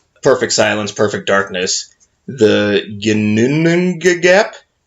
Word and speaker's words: Ginnungagap: everything started in perfect silence, perfect darkness, the Ginnunga Gap. How about you spell it? Yeah. Ginnungagap. May I see it? Yeah. Give it a shot. I'm the type of person that has to read it. Gunninagap.